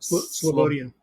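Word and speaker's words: Slobodian: Sloian Sloian has shown.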